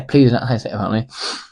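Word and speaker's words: Plzeň: Victoria pleas that's app that's how you say it to pleas or yeah pleas and now I'm going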